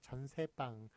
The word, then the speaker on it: 전세방: 그래서 참고로 보시면 전새빵은 전새빵이라고 소리 남에도 불구하고 세 글자니까 세 글자 한자어니까 사이시오 못 붙습니다. 그래서 앞에 게 맞습니다. 전세방이라고 쓴 것 앞에 게 맞습니다. 발음은 전세빵입니다만 예, 그 저기 한자어는